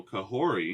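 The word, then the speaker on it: Kahhori: if season 2 and her name is pronounced kahor there's a t apparently I I don't know where it came from but it says pronunciation or t Okay shout out to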